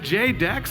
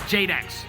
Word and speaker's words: JDX: with big hawaiian and he told me it's actually pronounced jadex before we got started here tonight jadex yeah jadex it's not jdx it's